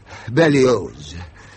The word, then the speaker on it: Berlioz: how it ended performance Hector Bello The Zed is pronounced and you're a composer